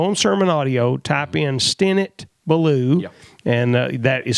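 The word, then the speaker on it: Stinnett Ballew: is to go on Sermon Audio, type in Stennett Ballou, and that is spelled Stinnett, Stennett Ballou.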